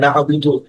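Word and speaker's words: نعبد: তো স্যার এই যে ইয়াকা না'বুদু ইয়াকা না'বুদু ওয়া ইয়াকা নাস্তাঈন। যে আইনটা কিন্তু গলার মাঝখান থেকে আসবে এই যে আইনগুলো আচ্ছা।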